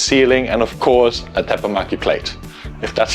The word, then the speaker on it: Teppanyaki: Integrated exhaust, so you have a seamless ceiling, and of course, a Teppanyaki plate.